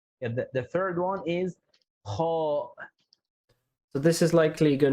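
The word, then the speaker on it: خاء: So my personal tips is that this is like a scratching sound.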